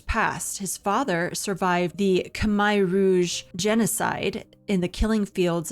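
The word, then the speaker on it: Khmer Rouge: Now, it is pronounced Kamay Rouge, and I know that for certain because my nonprofit partnered with a woman that has her own organization in Cambodia, and she knows the language of Kamaya, and she said that's how it's pronounced, and everyone says Camar, and she's like, they all say it wrong.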